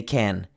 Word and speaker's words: can: this last example here the can is stressed so we don't say kun we say can yes we can can't